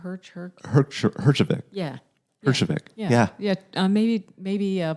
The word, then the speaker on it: Herjavec: How do you pronounce his last name? Herjavec.